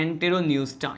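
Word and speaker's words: Enteropneusta: है इसे कहते हैं एंटेरोन्यूस्टा। क्या कहते हैं इसे कहा जाता है एंटेरोन्यूस्टा। क्या कहते हैं इसे, एंटेरोन्यूस्टा कहते हैं, जहाँ पे यहाँ पे पी क्या है, साइलेंट होता है, ठीक है।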